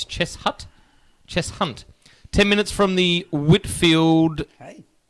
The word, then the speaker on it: Cheshunt: It's not Chestnut, it's Cheshunt.